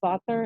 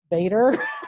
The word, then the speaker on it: Vader: And then, you know, it's not pronounced Vater, it's Vader. right. Sounds a little different.